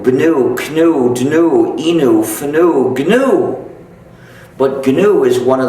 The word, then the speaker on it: GNU: And the reason is, according to the dictionary, the official pronunciation is new.